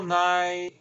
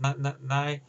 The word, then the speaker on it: Nighy: Now, I will say Bill Nye, or Nighy, or I think Nye, I think it's pronounced Nye, and Michael Sheen are the best actors in this film.